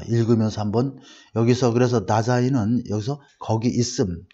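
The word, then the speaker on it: Dasein: 그래서 다자인이라고 하고 또 days인이라고도 발음할 수 있는데 there, 여기서 나라는 게 바로 there라는 장소의 개념입니다. 그래서 존재한다 이런 뜻이 되겠어요. 자, 읽으면서 한번 여기서 그래서 다자인은 여기서 거기 있음, 즉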